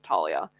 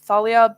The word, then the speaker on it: Thalia: so no it's Talia that's how you pronounce it in Spanish that's what I'm speaking